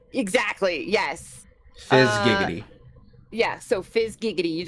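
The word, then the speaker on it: Fyzz Giggity: Okay, Fizz Gig, like a fizz gig. But also giggity, like giggity. So Fizz... Like giggity goo. Exactly, yes. Fizz Giggity.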